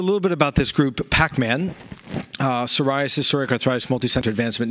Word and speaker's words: PPACMAN: I should start by saying that PPACMAN, the first P is silent, you know, PPACMAN, like PPACMAN, but the PPACMAN without the extra P was already taken, so here we are.